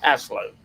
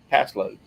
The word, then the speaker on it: Paslode: It's called pass load. Can you spell that? PASLODE. Yep, pass load.